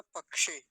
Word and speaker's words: पक्षे: शब्द क्या होगा पक्ष पक्ष नहीं कहेंगे पक्ष जैसे छ बोलते ना छ का वो छ का का उच्चारण नहीं आना चाहिए पक्षे ऐसा बोलेंगे तिथि क्या है आज